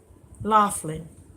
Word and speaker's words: Laughlin: Is it pronounced? Well, get you a smoke. Laughlin.